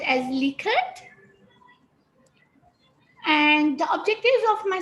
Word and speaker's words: Likert: You might have sometimes heard the word pronounced as Likert, which is actually the wrong pronunciation.